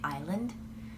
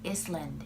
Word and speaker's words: island: that words are pronounced I had a very difficult time pronouncing English words I guess one example would be Island when we had the ESL classes I would always say Iceland Iceland that would happen to